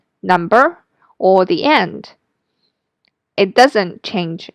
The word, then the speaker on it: 一: The first one is E sound. So when E is combined with another syllable in the first tone, the second tone, or the third tone, the E will change into the fourth tone, E.